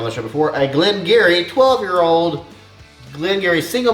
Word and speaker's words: Garioch: show before a glenn gary 12 year old glengarry single malt scotch whiskey straight from uh scotland you say gary like cheery but gary glenn eerie